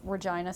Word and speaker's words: Regina: I'm from province of Saskatchewan, and it's Regina, Saskatchewan, and everyone's like, oh, it's the place that rhymes with fun.